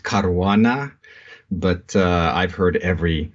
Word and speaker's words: Caruana: how is that pronounced it's a Maltese last name and in Malta it would be pronounced caruana but uh I've heard